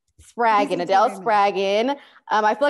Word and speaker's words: Spraggon: pronounce your last name spargon spraggan rhymes with dragon spraggan Adele spraggin um I